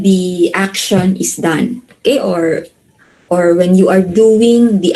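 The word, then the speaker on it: を: Okay, so for the particle o here is pronounced as o. Okay, not wo, but o.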